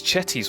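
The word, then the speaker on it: Cetti's: And as I said, we're going to go for this Chetty's Warbler. Let's pronounce it correctly. Let's not call it Setti's Warbler.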